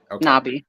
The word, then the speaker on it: Nabi: earlier before this not is it Nabi am I pronouncing that right yeah knobby all right before Nabi